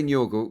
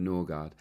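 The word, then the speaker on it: Nørgaard: I'm going to say Norgle because that's how he pronounces it instead of Norard. I've been doing that on commentaries. It doesn't feel quite natural yet, but that is apparently how you say it and how he wants to be known.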